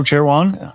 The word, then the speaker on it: Cherewan: Joining me this week is Joe Cherewan. I should have checked before that I had that pronunciation correct.